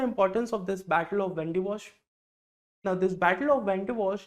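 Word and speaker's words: Wandiwash: of Wendy Bosch actually in Tamil Nadu there is a place called as vandavasi vasi but because of the anglicization of the language the place has been pronounced as Vandy wash now what is the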